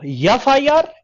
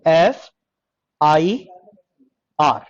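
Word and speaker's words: FIR: यफ आई आर की एफ आई आर? Like this, एफ आई आर। इसको हम क्या बोलते हैं? एफ आई आर, ऐसे प्रोनाउंस करते हैं।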